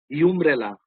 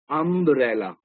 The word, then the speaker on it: umbrella: Now over here, this pronunciation is not umbrella. It is um, um, umbrella. The pronunciation is that of a.